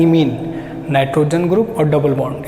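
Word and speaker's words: imine: अब इसे क्या बोलेंगे, इसे बोलते हैं इमीन, इसे बोलते हैं इमीन।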